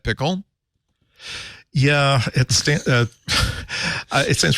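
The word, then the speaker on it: Pkl: didn't talk about pickle I'm pretty sure you pronounced that pickle yeah it St it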